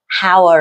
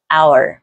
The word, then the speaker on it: hour: Các bạn hay đọc là hour. Các bạn lưu ý cái chữ H ở đây cũng câm, mà ta đọc lại là giống như từ của chúng ta, hour.